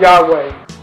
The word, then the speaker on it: Yahweh: you pronounce the word Yahweh is it's as if you're breathing first inhaling and then exhaling now Psalms 50: 14-